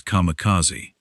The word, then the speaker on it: kamikaze: A name that could also be read using an alternate pronunciation of the same characters as kamicazi.